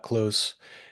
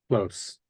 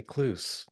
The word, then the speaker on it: Kloos: your last name ah close close okay I was I was going to say clu yeah everybody says clu it's dutch so it's got that long o well Scott clu welcome